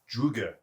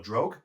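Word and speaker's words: draugr: The zombies themselves are a mix between your traditional zombies and Druger or Drogue. I'm going off Skyrim how they pronounce it, Druger, which is basically a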